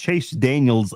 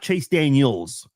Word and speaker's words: Chase Daniel: People also mispronounced Chase Daniels name. It's Chase Daniel, not Chase Daniels.